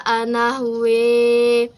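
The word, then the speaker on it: أحوى: Nah, kemudian cara membacanya berubah menjadi gusa anahwe. Nah, seperti itu awalnya ghusa anahwa kemudian menjadi gusa anahwe.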